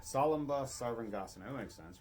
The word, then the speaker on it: Salamba Sarvangasana: Salamba Sarvangasana. Salamba Sarvangasana.